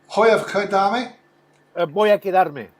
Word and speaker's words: Voy a quedarme: Is it Voy a quedarme? Voy a quedarme. Thank you very much. You pronounce the V like a B.